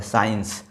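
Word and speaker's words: science: सी आया हुआ है साइंस। तो यहां पर देखिए इस सी को प्रोनाउंस नहीं किया जा रहा है। यह साइंस जो है वो एस की वजह से बोला जा रहा है।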